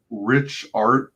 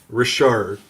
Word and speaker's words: Richard: Richard, like it's French. Richard. I was pronouncing it wrong. I was talking to Sim, and he being a French-speaking Canadian, explained to me the proper way to say it. So Richard. All right. Richard, without the T.